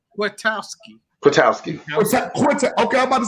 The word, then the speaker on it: Kwiatkowski: I'm saying his name wrong. Kwiatkowski.